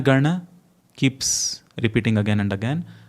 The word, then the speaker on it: Gana: But for the first line, it is Jana Gana. The na in Jana and na in Gana are distinctly different.